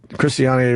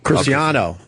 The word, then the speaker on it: Cristiano: I was watching uh how do you say his first name Chris uh Chris chistian Ronaldo Cristiano Cristiano Ronaldo and me and Jimmy